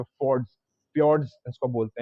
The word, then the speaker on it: fjord: जो देखने को मिलता है, वहाँ पे फोर्ड्स फ्योर्ड्स इसको बोलते हैं। FJORD इसका स्पेलिंग होता है, तो वो देखने को मिलता है स्वीडन में अपने को, ठीक है।